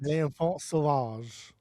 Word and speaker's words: L'Enfant Sauvage: L'Enfant Sauvage.